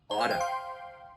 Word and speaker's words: ought to: Now, if you use ought to, I want you to make sure the pronunciation, we kind of mash the words together. So ought to, your pronunciation is going to be oughta.